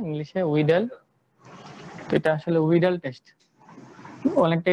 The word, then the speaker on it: Widal: এটা উচ্চারণটা হবে ইংলিশে করলে কি হয়, উইডাল হয় না ইংলিশে, উইডাল।